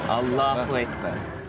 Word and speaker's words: Allahu Akbar: Inflection is on the second syllable. Allahu Akbar.